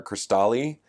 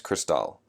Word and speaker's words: Cristal: throughout the entire scenario they're gonna call her chris tolly and she's gonna be like no it's Cristal and no one will